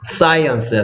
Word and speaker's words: science: 오, 사이언스야, 사이언스. 뭐라고요? 사이언스. 사이언스. 그래서 얘가 좀 스펠링이 어려운데요. I가 I 소리 됐고, 얘도 스, 얘도 스야.